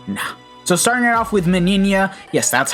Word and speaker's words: Meninas: Ichigo the rest nah so starting off with minia yes that's how you pronounce her name I actually finally figured doubt